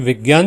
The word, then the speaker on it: विज्ञान: यहां पर है और विज्ञान जैसे मैंने बोला इस का सही उच्चारण होता है विज्ञान क्योंकि यह जोंग